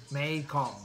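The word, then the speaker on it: Mekhong: meikon thanks noy for telling us how to pronounce it mae kong yeah we drank like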